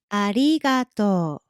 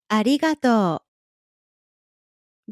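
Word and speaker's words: ありがとう: For your family and friends, you can just say ありがとう。ありがとう. Be careful with the pronunciation of り in this one, okay?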